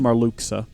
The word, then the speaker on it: Marluxia: I think you'll find it's pronounced Marluxa.